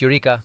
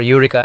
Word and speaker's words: Eureka: I'm excited to reach Eureka, or Eureka as the locals pronounce it.